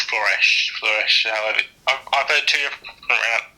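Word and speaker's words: Flörsch: It's Floresh. However, I've heard two different pronunciations.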